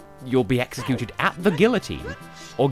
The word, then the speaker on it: guillotine: And when you come back, you'll be executed at the guillotine. Or guillotine, if you want to pronounce it that way.